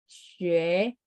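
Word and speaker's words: 学: Nah U ini harus dibaca mulutnya setengah bulat, xue, xue.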